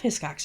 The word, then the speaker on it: Hiscox: name, then paused, and then very tentatively started, "His Cox?" By about the third or fourth time, I chimed in with a pretty quick "Hiscox," just like it's spelled. Because honestly, a pause in the middle, not good.